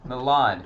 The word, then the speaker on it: Milan: And then we got Milan, Don't not say it like Manila.